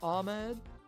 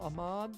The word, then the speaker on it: Ahmad: Okay, Mario Ahmed. Mario Ahmad. There we go. That's better pronunciation there.